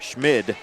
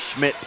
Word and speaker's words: Schmid: Schmid, not Schmidt. It is. There is no T on the word.